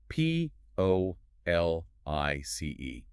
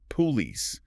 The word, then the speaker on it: police: Now, the robot reading that textbook pronounces every letter perfectly. Police. They give that first o a nice round full sound engaging their lips and taking their time. Police. But, the human does something entirely different.